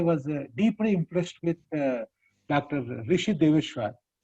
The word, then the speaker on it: Rishi Dwesar: Rishi Deveshwar. Am I right? Is that how it is Yes, sir. Yes, pronounced?